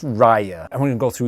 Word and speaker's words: Raya: i know because i saw the trailer it's pronounced raya and we're gonna go through each one of